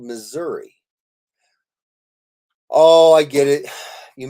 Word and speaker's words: Missouri: miss our eye okay m-i-s-s-o-u-r-i Missouri I know it doesn't sound like miss our eye but it's how I